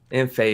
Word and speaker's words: Imphey: Imphey is the correct pronunciation, but Is that French?